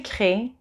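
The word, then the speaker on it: créent: So il, elle in the plural is créant. You write créant, but you pronounce crée. The en at the end is not pronounced, the ent.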